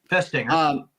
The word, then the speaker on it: Festinger: Festinger. Festinger. Perfect pronunciation.